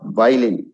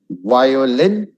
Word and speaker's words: violin: Next is violin, not violin. Violin, violate, violin, violate.